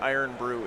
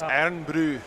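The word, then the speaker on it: Irn-Bru: It's not Iron Brew. It's Iron Brew.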